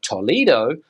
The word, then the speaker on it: Toledo: with the same name they would say Toledo but here in Spain too too too another city in the